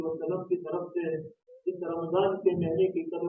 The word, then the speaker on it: رمضان: اور یہ رمضان کا مہینہ بھی را کے اوپر زبر اور میم کے اوپر زبر اور ضاد کے اوپر زبر، رمضان کا مہینہ. یہ تلفظ رمضان کا مہینے کو کیسے کہا جائے یہ بھی ہمارا صحیح ہونا چاہیے.